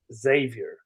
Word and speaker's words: Xavier: One point of order, though, I do have to help you out here, Steven, is it's just Xavier. There, you don't pronounce the X.